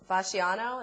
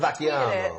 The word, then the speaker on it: Vacchiano: Ralph Fasciano, is that how you say it from the New York News? Yeah. Ralph Vacchiano.